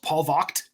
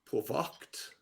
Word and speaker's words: Polvogt: I found out that my name is actually supposed to be pronounced Paul Vogt. Paul Vogt. Paul Vogt is a traditional Prussian German pronunciation of it.